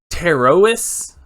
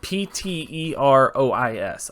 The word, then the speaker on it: Pterois: Red lionfish, or scientific name, Pterois volitans. Pterois volitans. Pterois. I believe that's how you say it. Pterois.